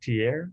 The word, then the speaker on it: Trier: at uh your professor at uh how's it pronounced tier university yeah yeah yeah okay um and if